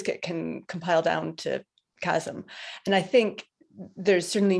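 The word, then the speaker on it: QASM: talk about it often which one is it chasm chasm but not as in whole but you know with a q obviously um some of these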